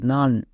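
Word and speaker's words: none: ও এন ই ডান এন ও এন ই নান কখন ওন আর কখন আন উচ্চারণ করব এর জন্য কোন রুলস নাই এগুলোকে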